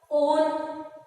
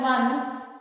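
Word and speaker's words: -one: On is the on. Don't pronounce it as one. It is on.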